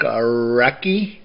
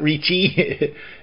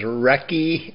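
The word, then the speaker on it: Recchi: Rob Blake uh Mark recky did I say it right that time it's not REI is recky I think uh Patrick W Luke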